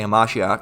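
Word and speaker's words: המשיח: We say Hamashiach.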